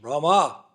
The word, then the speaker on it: Rama: No it's not Ram it's Rama. You have to chant the all the syllables to get the benefit of the Mahamantra.